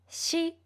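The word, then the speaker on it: し: Also, please pay attention to shi sound. Shi sound is similar to the sound of shi, but your mouth shape should be much more relaxed.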